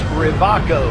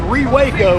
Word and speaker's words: Rewaco: or not, but it's Rivaco. It's a German brand, so the W is pronounced as a V. There you go. Now you know. For all of us who were saying Rewaco or something, I don't know what I was saying.